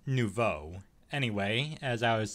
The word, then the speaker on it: nouveau: the rtx 2060 working and it's using the no view drivers like i mentioned before or actually hold on a second is that how it's pronounced hold on hold on okay so it's pronounced nouveau anyway as i was saying nouveau is the